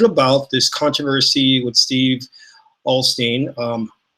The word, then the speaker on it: Osteen: this controversy would Steve Alstine some people pronounce his last name Osteen I don't know when it became Osteen I was called them